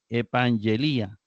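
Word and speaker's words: ἐπαγγελία: es epang elía y notemos e pan ye Li a es decir está acentuado en la la penúltima sílaba Li a recuerde que cuando estas vocales están invertidas no forman ditongo entonces para que sea ditongo tiene que ser Ai no ia eso nada más para para a modo de recordar epela promesa luego recordemos que ante vocal esto se convierte en ng verdad ng ang elía para efectos de pronunciación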